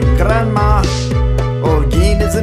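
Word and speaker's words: Granma: a must that's right my name is just as you saw if you pronounce it correctly it sounds like Grandma orgin is the name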